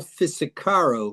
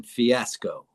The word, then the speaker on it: Fisicaro: I believe it's Paul Fisicaro rather than fiasco.